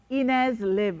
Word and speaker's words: Ines Lihb: correctly of course my name is sliv ines liv and you're a political science student in paris